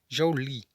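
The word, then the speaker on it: joule: unidades se nesse sistema a unidade medida do trabalho é o Juli pronúncias Jolie cujo símbolo é a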